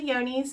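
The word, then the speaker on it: Johne's: yoni's C-A-L and c-a-e yoni's looks like it is spelled John's but it's actually yoni's and it is also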